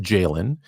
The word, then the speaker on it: Galen: But it's actually there's a Galen, pronounced Jalen, in ancient Greece.